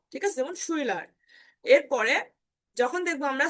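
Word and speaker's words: Schüler: যেমন শুইলার। এরপরে যখন দেখবো আমরা সে হা থাকবে তখন তার উচ্চারণ দুই প্রকারের হতে পারে, একটা হচ্ছে তালবীয়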